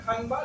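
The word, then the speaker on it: کھنبا: बाद अंबर और खंबा लिखा रहेगा खंबा लेकिन पढ़ेंगे हम खंबा इसी तरीके से आगे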